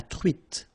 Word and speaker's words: truite: Same thing here. Final E not pronounced. T. La truite. Le maquereau.